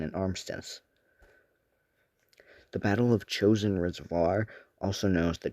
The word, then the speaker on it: Chosin: The name Chosin is derived from the Japanese pronunciation Choshing instead of the Korean pronunciation.